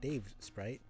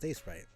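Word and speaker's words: Davesprite: with the space between the words. It's not Dave Sprite. It's just Dave Sprite.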